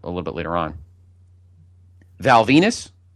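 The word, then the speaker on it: Val Venis: Val Venus. Rhymes with penis.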